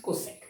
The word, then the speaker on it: cosec: You know, pronounce it cosec.